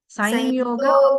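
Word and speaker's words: संयोग: How should we pronounce? Sanyoga. Rimkhanna Sanyoga. Sanyoga. Ah. Okay. But in Tamil, it is written as Samyoga. So, No, that's Tamil how version. we've written it. But the pronunciation is this way.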